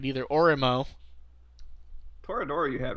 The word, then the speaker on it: Toradora: But like like they made multiple for Toradora, and I've never pronounced that one right either. Orimo. Toradora you had right.